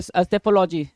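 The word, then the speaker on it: psephology: चुनाव विश्लेषण करना कहलाता है फिर सेफोलॉजी। सेफोलॉजी, पी साइलेंट होगा, सेफोलॉजी बोलेंगे, सेफोलॉजी।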